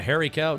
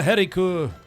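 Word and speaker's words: Hielan coo: No, I mean a Heriku. I learned that's the proper way to say it when I was visiting the Scottish Highlands. It's not a hairy cow. It's pronounced Heriku.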